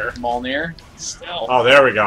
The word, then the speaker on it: Mjolnir: Shows locations Thor can use his Mjolnir Leap ability.